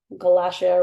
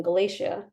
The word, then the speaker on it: Galacia: He pronounced the middle syllable wrong, Galacia rather than Galacia, but if he stuck around, he'd hear the unusual name enough to correct himself eventually.